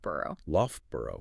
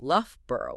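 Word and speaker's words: Loughborough: How do we get left burrow from all of that? We apply two sub rules at the same time. First, the o u g in the middle converts into the f sound like in the word rough or enough. So that's the l part. Second, the ending b o r u g h adheres to the consistent burrow rule which always reduces to burrow.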